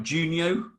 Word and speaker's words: Giugno: Oh, I said I was going to get the pronunciation right. Giugno? Yes, perfect. Down at the piece of paper that he prepared.